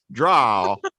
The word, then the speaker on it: drow: they do pronounce it drow.